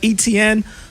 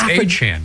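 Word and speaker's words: Etienne: They signed Travis uh ETN uh which isn't Et I'm saying his name wrong. I believe it's well it's a chain now. Achain. That's what it is.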